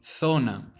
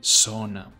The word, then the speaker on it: zona: rule of thumb, in Spain, it will make a th sound, so the word itself will be zona, whereas in Latin America it will be an S sound, so it will be zona.